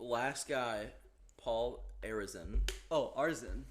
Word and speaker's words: Arizin: Oh, Arzin. Arzin, is that what? I think there's an I there. Yeah, but you don't pronounce it.